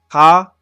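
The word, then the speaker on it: か: Almost like you're saying ka, but without the a. That's ka. With a C-A-H. That's pretty much the pronunciation that you would be using. Ka.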